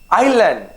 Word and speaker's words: island: it for you okay it's island it's not islam right okay it's island